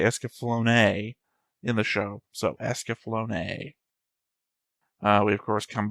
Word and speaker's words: Escaflowne: I'm Theta and we're back with another episode of The Visions of Esaflone.